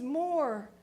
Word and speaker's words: Moore: and she said Miss Moore I just realized your name rhymes with boar and I said well